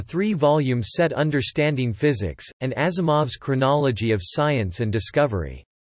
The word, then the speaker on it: Asimov: in the Latin alphabet, Asimov's father spelled it with an S, believing this letter to be pronounced like Z as in German, and so it became Asimov.